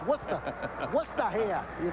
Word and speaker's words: Worcester: You might have thought of it when you saw W-O-R-C-E-S-T-E-R and pronounce it Worcester, but it's Worcester.